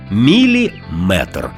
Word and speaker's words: міліметр: слів із частинкою метр буває кажуть кілометр сантиметр це неправильно у словах на позна міри довжини з компонентом метр завжди наголошуємо саме цю частину міліметр сантиметр дециметр кілометр кілометри